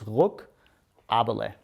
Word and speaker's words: Ruckaberle: It's Ruckaberle.